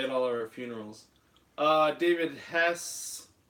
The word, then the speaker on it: Hess: David Hess, he said the E is silent, so pronounce it like Okay, Hess.